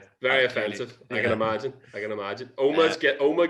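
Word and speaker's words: Omagh: Oma gets mispronounced quite a lot. When I went to uni in England, my English mates called it Omag for quite a long time, and it was quite infuriating.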